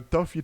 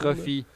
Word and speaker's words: Trophy: Non, ça ressemble beaucoup à un Toffee Truck. Je sais pas si je le prononce comme il faut. Trophy. Trophy, il manque tout un. C'est pas vraiment tu dis Toffee.